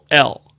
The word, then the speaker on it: Corll: And it's Corll. Ever heard of him? I couldn't even pronounce it.